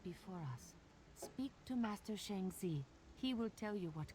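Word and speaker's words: Shang Xi: Speak to Master Shangzi. He will tell you what comes next. Shang Z. Okay, I was mispronouncing the Z part.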